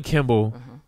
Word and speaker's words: Kimball: No, that's Kimmel for one thing. So you wrong on both ends. Why you say it like that? So Bonnie Kimball was a lunch lady.